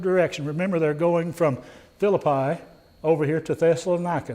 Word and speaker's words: Philippi: Remember, they're going from Philippi over here to Thessalonica. They don't have a long I sound, so it's Philippi, but we call it Philippi, and we're right and they're wrong, okay?